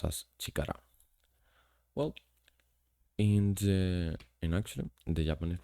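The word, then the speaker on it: 力: There's this one, which is power, and it's pronounced as chikara.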